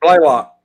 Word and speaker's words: Blaylock: Is that Ballock? How do you say it? Blaylock.